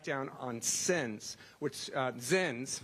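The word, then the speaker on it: Zyns: on sin which uh zins rhymes with sins are those packets of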